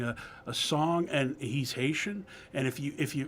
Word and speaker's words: Haiti: a song and he's Haitian and if you if you for the interest of pronunciation it's IAT IAT if you want to say it like the Haitian but here in America we say Haiti anyways where did that